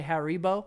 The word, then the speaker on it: Haribo: it huggable I say I say Haribo some people say harrybo I think it's Japanese